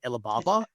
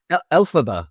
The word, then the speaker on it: Elphaba: You then have, how do you pronounce that? Elphaba? Elphaba from Wicked.